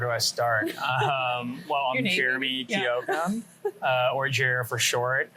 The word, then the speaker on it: Jeremy: Jeremy is actually 3 syllables. Most people say it as 2 syllables, but it's Jeremy instead of Jeremy, which is what most people say.